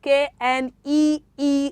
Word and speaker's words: knee: k-n-o-t is pronounced as what as not okay k-n-e-e is pronounced as your knee yes that is the